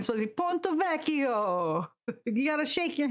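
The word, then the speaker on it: Ponte Vecchio: Ponttovecio is one of my favorite places to visit in Florence. You said it wrong. Ponttovacio.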